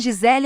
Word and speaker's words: Gisele: Até o nome Gisele é intrigante, descartando a pronúncia almânica forte em prol da boa orgenesa, de vogais doces e um G suavizado.